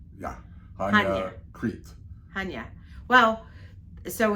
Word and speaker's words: Chania: Chania? Chania. Chania. Chania. They said the accent is on the ya. Yeah. Chania.